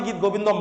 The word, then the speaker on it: গীত গোবিন্দম: গীত গোবিন্দম বললেও চলবে গীত গোবিন্দ যদি বলো তাহলে হচ্ছে তুমি বাংলায় উচ্চারণ করছো আর গীত গোবিন্দম যদি বলো তাহলে সংস্কৃত ভাষায় উচ্চারণ করছো বোঝা যাবে তো ঠিক